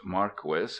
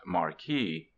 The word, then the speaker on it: Marquis: name not a pseudonym it is pronounced Marquis not Marquee I reprint here two